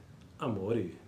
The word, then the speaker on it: amore: Infatti, Infatti, infatti pronuncia la parola amore con la O chiusa.